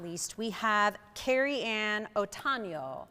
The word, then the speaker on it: Otano: And then last but not least, we have Kerriann Otano. Did I say it right, Kerriann? Otano. She said I nailed it.